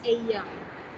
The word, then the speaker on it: ella: Just read it literally. This is एया। मैंने सबके नीचे उनकी प्रोनाउंसिएशन दी है, so please read it. एला नहीं, एया।